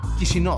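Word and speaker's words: Chișinău: Chisinau qui, d'ailleurs ici, l'une des façons de prononcer le nom est Chisinau Ils sont venus Nous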